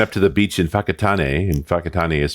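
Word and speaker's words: Whakatane: And we went up to the beach in Fakatan and Fakatan is spelled wh Okay. It's like what? Fakatan. Fakatan. Fakatan. Yeah. WH is an F sound in in Maui.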